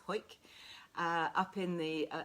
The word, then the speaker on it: Howick: i've been up to i think you pronounce it hoik please correct me if it's wrong it's spelt howick but i think it's hoik uh up in the